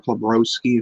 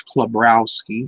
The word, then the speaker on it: Karowski: if you want or closi if you want to call it but the proper pronunciation is karowski because it's pretty much just a way it is um if yeah